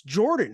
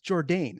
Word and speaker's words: Jourdain: And he's like, "It's Jordan. It's Charles Air Jordan." I'm like, "No, it's not. It's Jourdain. It's Charles Air Jourdain." Jourdain, Jourdain. So I was Yeah, closer.